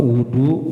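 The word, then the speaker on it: وُضوء: Was, kalau wudu itu beda dengan wadu. Kalau wawunya dipatah maka artinya adalah air. Ya, makanya kalau bacanya itu harus benar-benar tahu. Kalau wudu kerjaannya wudu, kalau wadu berarti airnya.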